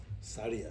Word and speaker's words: Suraya: One of my auntie was called Suraya, so Suraya is Saria.